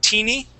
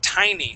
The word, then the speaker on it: tiny: this uh four-letter word you had said teeny okay as in teeny bits of cocaine but the word is pronounced tiny so that is going to use a long ey sound okay tiny please repeat